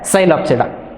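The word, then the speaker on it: Psilopsida: silent after they that's why it is uh pronounced as sylopsida second one is lycopsida second class is called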